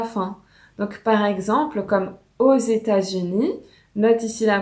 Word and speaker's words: aux États-Unis: Donc par exemple, comme aux États-Unis, note ici la prononciation, le X se prononce avec le E et il a le son d'un Z, donc aux États-Unis.